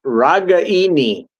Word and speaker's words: Ragaini: And okay, So yeah, we it was Nicole Regini or Regani. Say it out. Say it properly. Ragaini, according to his mother.